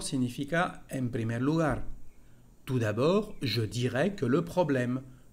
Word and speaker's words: d'abord: Cómo iniciar, cómo presentar una idea con ese primer conector d'abord. Hay que cuidar con la pronunciación. D'abord, la última letra no se dice.